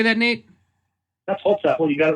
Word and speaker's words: Holzapfel: His name is Nate Holzapfel. How do you say that, Nate? That's Holzapfel.